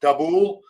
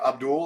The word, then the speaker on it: Dabul: discount guys like Michael dabul someone said I pronounced his name Abdul last last week so I apologize for that dabul he's very good uh